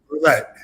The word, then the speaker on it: roulette: is called genetic roulee roulette I always say that word wrong it's roulette right yeah it's roulette always say it like in French I don't know why